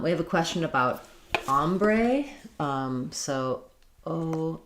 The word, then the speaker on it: ombre: Um, um, we have a question about ombre. Um, so, om, m r e. Um, first syllable stress, letter o says a. Ombre. And then secondary stress on the bray syllable. Um, ombre or ombra.